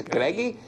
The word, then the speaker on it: Greg: date episode is named Greg or as it's pronounced in Portuguese gregy and as you will